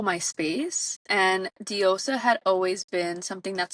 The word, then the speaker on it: Diosa: Diosa?